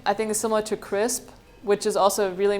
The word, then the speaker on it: Krisp: Crisp. Crisp. Yeah, it's spelled KRISP.